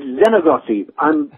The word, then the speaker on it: Xeno: not a person's name oh sorry it's Zeno I'm Zeno okay I'm mispronouncing it that's why we had